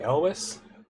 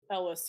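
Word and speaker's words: Elwes: pulled up is it Carrie I mean Carrie Elis Elis yeah he's in it as go figure the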